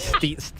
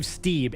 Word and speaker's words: Stieb: I think I said Steve. What's his name? Dave Stieb.